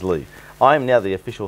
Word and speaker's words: Li: L-I in Chinese is Lee.